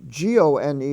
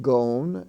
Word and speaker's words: gone: And the word gone, G-O-N-E, is not gone, it's gone.